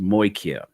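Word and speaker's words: μοιχεία: Anyways, by believe the word is pronounced moikia, which means a crime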